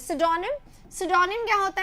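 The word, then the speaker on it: pseudonym: और इसका प्रोनाउंसिएशन सोचिएगा, इट इज सिडोनिम, पी से स्टार्ट हो रहा है पर ये सिडोनिम है, ठीक है।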